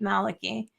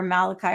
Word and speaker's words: Malachy: He was the first Irish Pope, Saint Malachy or Malachi, however you want to pronounce it.